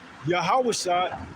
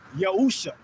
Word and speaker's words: Yahushua: It uses the ancient Paleo-Hebrew characters, which would say in the Lashawan Kodash, Yahushua, but now there's another pronunciation of it, and they're saying it's Yahusha.